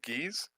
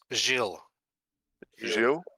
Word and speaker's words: Gilles: Uh, and uh, thanks to our guest uh, it was it pronounced Geese? I think so. Messier, huh? Jill. Jill is how he said it.